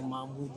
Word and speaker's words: Mahmoud: Moi, mon nom, c'est Mahmoud. Ben, Mahmoudou, c'est Mohamed. C'est Mahmoud, non, c'est pas Mohamed. Si. C'est Mahmoud. Mahmoud, Mahmoudou, Mohamed, Mahomet, c'est le même nom. Mais c'est la prononciation qui diffère.